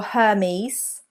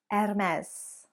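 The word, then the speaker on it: Hermès: number three French again it is not her mez or Hermes but there is a silent H there ms/ms and say it with a French accent or at least the best you can do M s Hermes number four a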